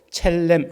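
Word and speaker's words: צלם: 발음을 격하게 하는게 중요합니다 S 앞에다가 자를 붙여 가지고 첼렘 이렇게 붙이는게 조금 더 더 이제 가까운 발음의 발음이다 뭐 그렇게 살렘이라고 쓴다고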